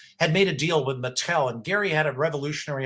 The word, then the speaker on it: Mattel: Did I pronounce it correctly? Yeah, Mattel? You did, Mattel.